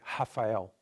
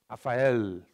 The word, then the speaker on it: Rafael: By the way, the L at the end in Brazilian Portuguese, we don't pronounce like all, we pronounce like U. For example, my name in Brazil, we pronounce like Rafael. Not Rafael, no, doesn't exist. So the L at the end becomes U, never in Portugal.